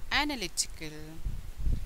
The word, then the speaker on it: analytical: you see krill analytical the stress on the third syllable so it became analytical meaning using a logical